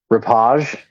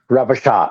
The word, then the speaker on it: repechage: But I don't think you're pronouncing that word correctly. repage, Repechage. repechage.